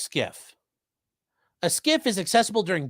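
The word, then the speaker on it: SCIF: be put together okay it's yes and it's pronounced skiff a skiff is accessible during business hours to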